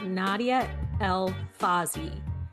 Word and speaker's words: Nadia El-Fassi: And on this spotlight I am welcoming author Nadia El Fazy.